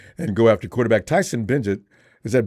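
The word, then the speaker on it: Bagent: Falcons will try and go after quarterback Tyson Bengt. Is that Bengt Is that Is that the way we pronounce that name? B E N G E T. Bengt. Bengt.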